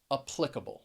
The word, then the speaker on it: applicable: do i typically say i think that i would generally say applicable with that schwa and that first syllable and the stress on the second applicable that's what i would